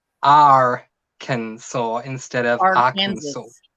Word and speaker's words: Arkansas: Let's No, say it Arkansas. definitely doesn't look like it sounds, but Mhm.